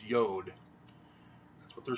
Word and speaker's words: yod: There is no J in Hebrew. It originated as a Y, a yod. You know, no jot or tittle, no yod. And so it's not jot. The T is phonetically the same as a D. Spell the word past. And the J is not a J, it's a Y. So it's yod.